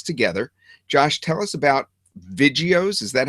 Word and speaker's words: Vidgeos: to learn this together Josh tell us about Vios is that how you pronounce it yeah that's right Vios Yeah so basically it's a like a view